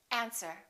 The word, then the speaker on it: answer: Island debris all right one more silent W answer don't say answer say answer these are the most